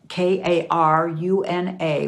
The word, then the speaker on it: Karuna: This is pronounced the same, but spelled differently. It's spelled with a K. Karuna with a line over it.